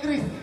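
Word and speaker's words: QRIS: 3 orang mengecekkan Kris, seorang mengecekkan Kiris. Nama benar. Hah? Kiris. Kiris. Kakak? Hah? Kris. Nama benar Kris. Memang huruf awalnya Q, tapi bacanya Kris.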